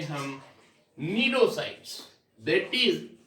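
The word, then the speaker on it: cnidocytes: Hydra के अंदर ध्यान से सुनना बेटा, स्पेशलाइज्ड स्टिंग सेल्स होती है, उनको बोलते हैं हम नीडोसाइट्स. दैट इज या सी साइलेंट होता है, दिस इज नीडो और साइट्स.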